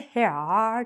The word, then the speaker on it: heir: You look at this and go, "Here are I'm the heir to the throne." But it's actually heir and you think, "How did that even cross someone's mind to make it sound like heir?"